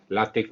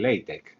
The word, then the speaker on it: LaTeX: de su maestro latex pronunciaremos así látex los anglófonos lo pronuncia más bien leite pero bueno nos da igual bien hoy en día